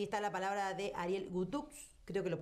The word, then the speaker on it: Guthux: Entonces, allí está la palabra de Ariel Gutux, creo que lo pronuncio bien, ¿verdad? Gutux, sí.